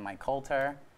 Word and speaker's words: Mike Colter: alongside time to actors like Muhammad Ali and Mike Colter that's how you say it yeah your father